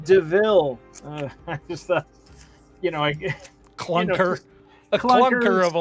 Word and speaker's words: De Vil: uh the horus character said it spelled devil but pronounced deville you know clunker of